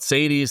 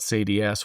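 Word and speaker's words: SADI-S: And so some people will call it SADES, some people will call it SADS.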